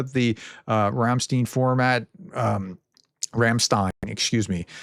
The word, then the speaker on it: Ramstein: Um Rammstein, excuse me. It's like Einstein.